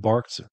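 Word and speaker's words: Barq's: So Ken Elliott was the former president and co-owner of Barks Beverages, spelled like Barks Root Beer, B-A-R-Q.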